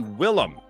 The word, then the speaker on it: Willem: That's supposed to be Willem. Yeah, not William.